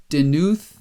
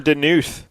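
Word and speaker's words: Daanuth: geoforce in there yeah because gam denuth you got a double a in there d-a-a-n-u-t-h ah that's what that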